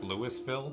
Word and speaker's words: Louisville: American city that's like Louisville or something but it's like Lewisville it's how it's pronounced yes Louisville Kentucky that's